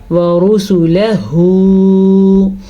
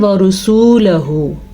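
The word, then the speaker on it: وَرُسُلَهُ: اب اکثر لوگ کیا کرتے ہیں، اس کو پڑھتے ہیں ورسولہ. یقین کریں زیادہ تر لوگ ایسے پڑھتے ہیں. سین پیش واو سو نہیں ہے، یہ سین پیش سو ہے.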